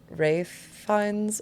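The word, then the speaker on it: Ralph Fiennes: And then do we say his name Rafe Fines or is it Ra Rafe Fines?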